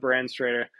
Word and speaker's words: Branstrator: full name underscore brand straighter um should come up I can spell it it's b-r-a-n-s-t-r-a-t-r to try to sound it out brand straighter uh but yeah I'm